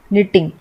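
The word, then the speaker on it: knitting: इसको हम जब भी पढ़ते हैं तो ऐसा लगता है हम इस तरीके से पढ़ रहे हैं, NITING निटिंग, लेकिन एक्चुअली में ये K से होता है निटिंग।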